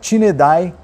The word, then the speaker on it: Tineidae: Uma vara da Rapala, pronúncia dela Tinedai.